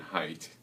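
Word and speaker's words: Haidt: a book called the righteous mind by Jonathan height his last name is spelled H AI DT and he was at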